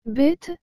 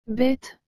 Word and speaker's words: bête: et le mot bête vous avez remarqué que j'ai bien dit bête et non bête je répète encore afin